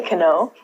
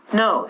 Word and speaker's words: know: however we don't say can O we reduce this to know so not only at the beginning letter K is silent but W is also silent so instead of saying